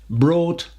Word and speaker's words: brought: Bring, brought, brought.